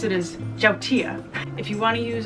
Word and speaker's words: yautía: By the way, I'm using yautía, I've been calling it, but the right way to pronounce it is jautía.